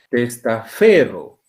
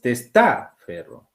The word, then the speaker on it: testaferro: Tú no pronuncias testaferro. Ahí llevaría tilde aquí en la tras antepenúltima. Tampoco es testaferro, es testaferro.